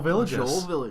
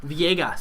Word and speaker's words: Villegas: and fellow YouTuber, Joel Villages. Villegas, actually, is how you say it. Is it Villegas? It is Villegas. Everybody says Villages.